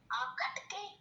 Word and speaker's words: आखेटक: आखे टक ना बेटा, आप प्रोनाउंस ठीक से नहीं कर रहे हो, स्पेलिंग फिर से गलत हो जाएगा। हम लिख चुके हैं आ ख एकर टक, आखेटक आया।